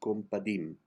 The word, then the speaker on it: compadim: The accent is on dim. Compadim.